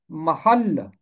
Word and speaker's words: محل: اسی طرح ہے محل، لام کے اوپر تشدید ہے۔ اس کا تلفظ محل نہیں ہے، یہ اس کا غلط تلفظ ہے۔ दुरुस्त तलफ़ुज़ है महल, जमा है महल्लात, महल्लों।